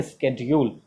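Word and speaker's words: schedule: SC जब आता है तो इसके का सेंस, जैसे SCHOOL स्कूल है ना इसका, तो उसी तरह से यहाँ है स्केड्यूल, ये एकदम राइट प्रोनाउंसिएशन है।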